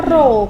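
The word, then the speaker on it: ρ: pH, P itu adalah tekanan ya, pressure ya. pH tekanan hidrostatis sama dengan ini dibacanya rho bukan P ya. Nah, ini sering sekali anak-anak itu keliru ya. Ini rho bukan P ya.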